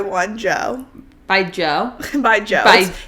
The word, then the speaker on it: DJ: By Joe. It's pronounced Joe. Have you seen that Coachella stuff he has? It's pronounced Joe, but it's literally just spelled DJ.